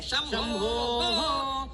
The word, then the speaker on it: शंभो: गुरुजी, अशुद्धि अशुद्धि, चंबो चंबो चंबो मत कीजिए, शब्द को भ्रष्ट मत कीजिए, कहिए शंभो शंभो, ऐसा कहिए, उच्चारण भ्रष्ट मत कीजिए।